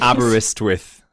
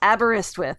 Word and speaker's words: Aberystwyth: Can you pronounce it for me again, Rich, in please? Aberystwyth in Wales. Aberystwyth, okay.